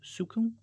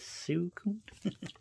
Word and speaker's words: Suicune: Suicune. I don't know. And that's how you say it. Suicune.